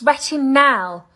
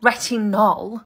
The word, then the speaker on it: retinal: It's retinal, not retinol.